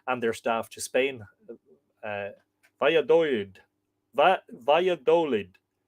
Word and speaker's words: Valladolid: Valladolid. So the last syllable, lead.